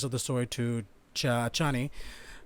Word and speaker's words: Chani: the story to cha chani it's so weird in my in my head the whole time i pronounced her name is cheney for some reason god sorry i'm trying